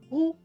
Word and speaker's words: who: Então, por exemplo, o who, que a gente usa para perguntar sobre pessoas, quem, pensa no R de carro, carro, e a palavra who, a gente vai falar who também.